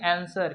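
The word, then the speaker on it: answer: आंसर में देखिए यहाँ पे डब्ल्यू क्या है? साइलेंट है। राइटिंग में भी डब्ल्यू साइलेंट है, और रिस्ट में भी डब्ल्यू साइलेंट है। तो इसे हम लोग क्या पढ़ेंगे? शुद्ध में क्या पढ़ेंगे? आंसर।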